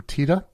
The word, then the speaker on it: Tiede: Now, it's interesting because I took a look at some footage, and Bernie himself pronounces his last name Tiede.